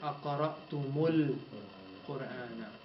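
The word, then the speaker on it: أقرأتمُ القرآن: So what you do is on the meme, you put a dhamma. So you pronounce it أقرأتمul Qur'ana.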